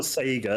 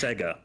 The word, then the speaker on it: Sega: No, it's not Sega, it's Sega. It's spelled the same, but it's pronounced differently.